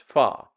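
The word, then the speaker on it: phở: other things fa now you may see that spelled pH H not pH but it's pronounced fa now I don't know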